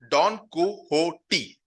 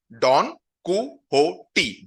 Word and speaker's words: Don Quixote: Now इसका जो pronunciation है, okay, that is again important. कहां लिखा है? Don Quixote. Don Quixote.